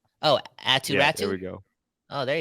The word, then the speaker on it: Aatu Räty: No, like Aatu Ratu. Aatu Yeah, like his Ratu. name basically rhymes. Oh, Aatu Ratu?